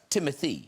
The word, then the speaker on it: Timothée: It's pronounced Timothée.